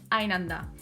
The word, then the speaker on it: einander: The first one is the word "einander" (one to another or from each other). It is pronounced together and without a Knacklaut.